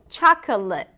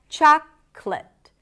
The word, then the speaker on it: chocolate: Chocolate. In this case, eliminate the middle syllable, thewah, and then you get chocolate.